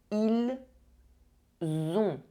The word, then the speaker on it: ils ont: Do not mix up ils sont and ils ont. One sound is a se, the other sound is a the.